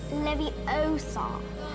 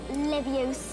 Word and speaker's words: Leviosa: with something small besides you're saying it wrong it's Leviosa not Leviosa are you doing then